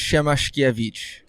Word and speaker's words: Siemaszkiewicz: do you say your name uh it's it's pronounced shamash evich okay nice I'm not sure I'm pronouncing it